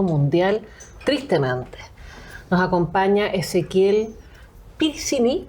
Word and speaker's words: Peressini: Nos acompaña Ezequiel Piricini. ¿Cómo se dice tu apellido? Perecini. Perecini. Está bien. Está por ahí.